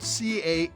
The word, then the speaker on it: Cannes: Now, Cannes is spelled C-A-N-N-E-S, but pronounced Cannes without the S.